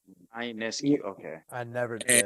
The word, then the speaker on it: Ionescu: you pronounce it. Ionescu.